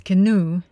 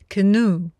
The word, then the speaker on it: canoe: So help me take down this canoe. Поэтому помогите мне снять это каноэ. Обратите внимание, произношение слова каноэ. Canoe. Canoe.